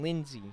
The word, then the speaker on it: Lindsay: yeah absolutely excuse me Cameron Lindsay not Lindsley I'm sorry for the